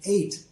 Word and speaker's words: ate: But when it's spelled A-T-E, it's pronounced the same, 8, but it means it's the past tense of eat.